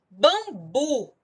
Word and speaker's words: bambu: Bambu. A sílaba tônica é um bu. Aí eu tenho uma oxítona, mas é uma oxítona terminada em U. Portanto, não leva acento.